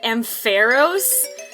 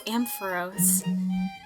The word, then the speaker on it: Ampharos: um so I did takes with Ampharos and AM Pharaohs or whatever oh yeah you were calling him